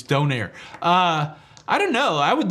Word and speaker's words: donair: It's not Donner, it's Donair.